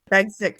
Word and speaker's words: Bagsik: Did I say it right? Bagsik. Close. Bagsik. Yeah.